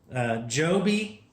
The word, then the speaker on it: Joby: This is the Joby, is how they say it.